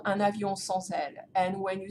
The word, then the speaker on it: sans aile: and it's spelled S-A-N-S, so because it ends with a consonant, you can kind of glue to the next word that will start with a vowel, so that's why it sounds sans aile.